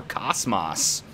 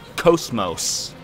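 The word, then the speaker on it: KOS-MOS: Because in Xenoblade Chronicles 2, they call her Cosmos. I'm used to saying Cosmos because I played Xenosaga in English, where they pronounce it as Cosmos. You know, two long O sounds.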